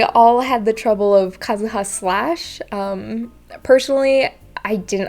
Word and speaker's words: Kazuha: think i hear kazuha it's the same as inazuma you really want to put it in the second one but um the intonation will go in the first syllable for um and what i've noticed is that a lot of english speakers really want to put the intonation in the sec the second or third syllable when um japanese native speakers will put it in the first or second another thing i want